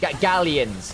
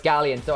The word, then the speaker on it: Galions: Gallions. Gallions. Gallions. Gallions. At least that's the English pronunciation.